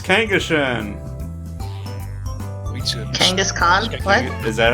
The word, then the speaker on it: Kangaskhan: Kangaskhan? What? Is that how it's pronounced? Yeah, it's Kangaskhan.